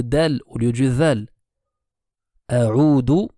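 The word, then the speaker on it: أعوذ: A'udhu sera faux. A'udhu veut dire je reviens. A'udhu avec le zal veut dire je cherche refuge. Je me place sous la protection. Donc ça, c'est une erreur courante, le fait de changer le zal en un dal.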